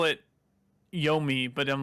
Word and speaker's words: Yomi: um but also i turns out i was pronouncing trek to my incorrectly evidently it is yomi oh you made me look like a jackass i still think it's yo mai though but whatever it's the